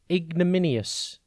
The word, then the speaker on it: ignominious: and it is spelt i g n o m i n i o u s think ig then no then min the letter i and then o u s ignominious means deserving or